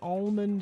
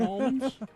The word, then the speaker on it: almond: Somebody says, did you guys know the L in almond is silent? I didn't know that. Did we mention almonds?